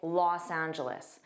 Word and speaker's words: Los Angeles: And notice the next part. Angelus. The last sound is an is. Isl. Angelus. Now, in this case, always say loss. So, native speakers don't just say, they always say Los Angeles.